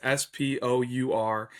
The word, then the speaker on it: Spoor: But Charlie Spoor, and somebody correct me if I'm saying it wrong, but it's Spour, and he's at St.